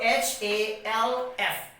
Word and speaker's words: half: and as by the rule that if the letter l comes before the letter k then l becomes silent so here what we